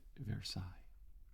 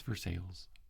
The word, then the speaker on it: Versailles: nearby to a town it is spelled the same way so it should be pronounced versailles but it is not it's for sales and everybody calls it